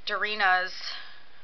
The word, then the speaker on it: Darina: and that was um darina's believe it was darina is how he pronounced it yeah um boyfriend so